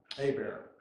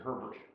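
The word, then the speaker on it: Hébert: 4 guys that, and it was Abear, but he pronounced it Herbert. Oh, yeah, that's the Until his mother came up from Louisiana, and I said, it's really Abear.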